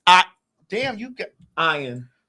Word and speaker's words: Ian: I do remember him Ian his name no his name was ion he pronounced as I oh ion zering I used